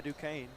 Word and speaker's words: Duquesne: Had his first offer coming a year ago by Duquesne. So, that's how you pronounce it.